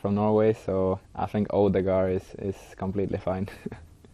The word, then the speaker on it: Ødegaard: Now, to prefer, I prefer like people just say Ødegaard, because that's like how you say it in English, I would say, but in Norwegian it's Ødegaard.